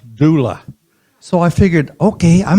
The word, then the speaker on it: doula: I looked up the word d o u l a which I had never heard before. I had never seen it in any writings pronounced doula.